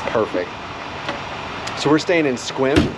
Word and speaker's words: Sequim: some pokemon eggs perfect so we're staying in squim spelled s-e-q-u-i-m it's not pronounced cyclone it's squim it's by port angelus on olympic peninsula and